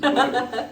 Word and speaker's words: Butta: Yeah, people like butter. Like, nah, it's butter. It's butter. It's spelled with T's.